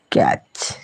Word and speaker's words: catch: is work then catch catch in this word t is not pronounced catch catch catch understand then